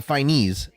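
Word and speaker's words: Fiennes: my gosh oh Ralph finest I think or uh uh finis that's how you pronounce his name playing Voldemort here oh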